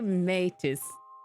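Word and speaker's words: métis: This is originally a French word for people of mixed French and in French it is therefore misi.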